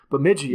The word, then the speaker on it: Bemidji: up that i'm going to make sure i pronounce it right bemidji bemidji all right that was right all right that